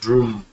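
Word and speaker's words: bhrūṃ: by the offering substances recite boom pronounced broom which is the seed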